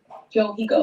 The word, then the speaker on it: Johyko: Then how you pronounce it? Johiko.